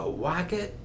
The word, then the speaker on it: wocket: Seuss and it's called there's a wocket in my pocket and what does walk it rhyme with there's a pocket this is a pocket